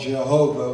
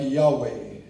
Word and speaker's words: Yahweh: When it's capitalized, it always means the word that we initially called Jehovah, which scholars have found that is not the right pronunciation, but it's something like Yahweh.